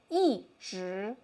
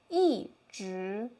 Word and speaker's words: 一直: We will say 一直一直 Fourth tone as well.